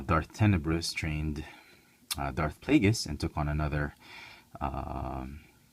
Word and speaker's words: Plagueis: a bth uh however Darth pagus I think that's how it's pronounced I looked it up they said it's pagus and it makes sense